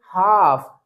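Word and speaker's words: half: Otherwise ये wrong pronunciation होगा। तो हम इसको क्या रीड करेंगे? काफ। इसको रीड करेंगे हाफ।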